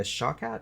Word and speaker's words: Shawkat: And she has a best friend named Jess, played by Aaliyah Shawkat, I think is how you pronounce her last name, who for a second I thought was Natasha Lyonne.